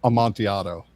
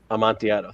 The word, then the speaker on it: Amontillado: I never pronounced that right. Amontillado. Amontillado.